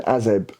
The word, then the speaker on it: AZEB: spillage in 2020 and then azeb last year am i pronouncing that right yes okay i wanted to